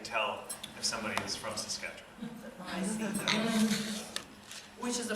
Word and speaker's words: Saskatchewan: The emphasis goes on the catch part, so Saskatchewan. Saskatchewan?